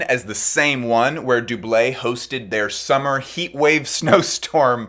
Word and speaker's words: Doublet: are walking up to Doublet, which I've recently learned does not use the hard T sound at the end. It's not doublet, it's Doublet.